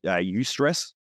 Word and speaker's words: eustress: When you're in your higher values, you have more eustress, which is spelled EU. stress, eustress.